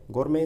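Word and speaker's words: gourmet: गोरमे इसका प्रोनाउंसिएशन होता है, वैसे आप कुछ भी आप इसको बोल सकते हैं।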